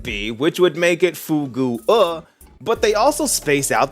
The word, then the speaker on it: Fugue: makes me think otherwise and that's the name Fugue yes it's pronounced fug now despite the way this looks